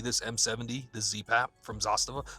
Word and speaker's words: Zastava: Like if I'm going to have one communist gun, it's going to be this M70, the ZPAP from Zastava. Zastava? Zastava? Emphasis on the syllable.